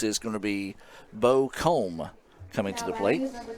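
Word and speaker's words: Coumbe: going to be Bo Combe coming to the plate. Number 20, Bo Combe. It's got a different spelling. It's C-O-U-M-B-E, but pronounced Combe.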